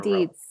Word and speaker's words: Dietz: Dietz.